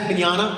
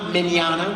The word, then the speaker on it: Mignogna: with Vic whose last name is hard to pronounce hello everybody hi uh my name is Vic Manana minana we've already established that uh I I've been